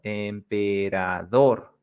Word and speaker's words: emperador: And the next part es la sílaba tónica de esta palabra en emperador, emperador. So this is dor, where you put the strong part, dor.